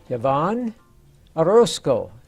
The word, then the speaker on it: Yavonne Orlson: And today we're very privileged to have a very young lady with us today, and her name is Yavonne Orlson.